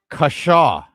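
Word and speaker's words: cushaw: And uh I will tell you what it is, and you need to spell it for everyone. Okay. It is kashaw, a type of winter squash or pumpkin known for its curved neck and sweet yellow flesh.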